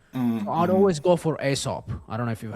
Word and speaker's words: Aesop: It's spelled Aesop. Write it down. Aesop as in Aesop's Fables.